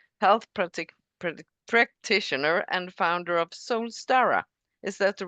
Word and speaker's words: Soulstara: She's a holistic health practitioner and founder of Soulstara. Is that the right way to pronounce it?